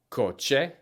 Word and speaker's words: coche: The hard C sound sounds like the letter K, just like in these following examples. Coche, cabeza, cama.